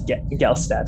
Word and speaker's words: Gelstat: You're right, it is Gelstat. I was saying it wrong.